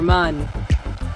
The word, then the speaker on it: Mun: Or mun. Why have I been pronouncing it moon? I always pronounce it mun, normally.